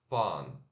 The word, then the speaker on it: fun: Mas para fazer esse som, você faz o som de O, de óleo, ó, e relaxa os lábios. Óleo, fun. fun, Que parece com som de A, mas não é som de A não, tá?